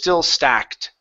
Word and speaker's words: stacked: Okay, so the magazines were still stacked. The magazines were still stuck. Add that T sound at the end. Stacked.